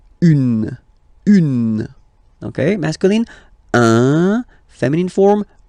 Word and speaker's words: une: Then the feminine article is here, and it's easier because if you have this une, then you pronounce it une.